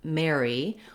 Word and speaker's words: Mary: that kind of mary what you want is to have a tense a sound before your r so you're gliding from the a that's more forward into your tight r try it like air mare so thinking of that word air can help you if you want more